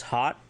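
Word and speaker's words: haat: If you want to say the words truth, honor, vision, truth is hot, spelled H-A-A-T, honor, ija, spelled I-J-A-A, and vision, ha'it, which is H-A-A, beten, or apostrophe, I-T.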